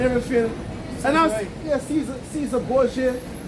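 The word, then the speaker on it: Cesare Borgia: And I was, yeah, Caesar Borgia. Well, I think some people even just pronounce it Kaiser Borgia.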